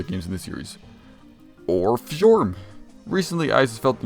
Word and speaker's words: Fjorm: I know her name is Fjorm, but she doesn't deserve her to have her name pronounced right.